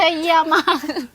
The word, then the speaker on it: เยี่ยม: ดีเทล สำคัญ ถูก ต้อง เยี่ยม มาก เลย ค่ะ โอเค เยี่ยม โ No เย เยี่ยม เยี่ยม มาก ไม่ ใช่ เยี่ย มาก โอเค ออก เสียง ชัด ๆ ราย การ เรา